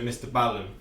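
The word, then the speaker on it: MrBallen: This is another reaction to Mr Ballen.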